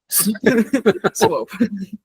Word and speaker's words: Swope: Like the the past tense of swipe. Swope.